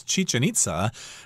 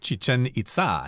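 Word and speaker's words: Chichén Itzá: And, of course, Westerners pronounce this as Chichen Itza, but if you're in Mexico, they'll pronounce it as Chichen Itza. It'll be slightly different.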